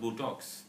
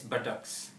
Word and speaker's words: buttocks: and the next word you said as Botox is not Botox its buttocks buttocks are the lower